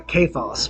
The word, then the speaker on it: Cephas: But the narrator is someone named Cephas, or Kephas would be the pronunciation of the Greek. But his friends would call him Cephas, and that was a